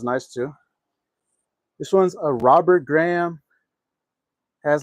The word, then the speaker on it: Robert Graham: Robert Graham blazer.